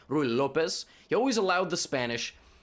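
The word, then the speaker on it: Ruy Lopez: the uh the ru i always say rue lopez that's not how you say it rui lopez he always allowed the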